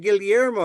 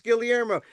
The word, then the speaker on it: Gilmo: also also and that's how I know I pronounce my name because they say oh Mr. Gillmo. I said, "You're my confirmation. It's Gilmo."